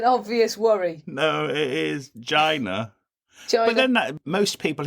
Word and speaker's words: Geena: No, it is Gina. But then that most people who are called Gina do actually spell it with an I, don't they?